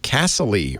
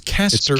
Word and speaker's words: Casterly: And for the longest time, I thought they were calling it Castle-y Rock, like a castle. Yeah. And then I see it spelled, it's Casterly. It's like Casterly? Casterly. Is that what it is?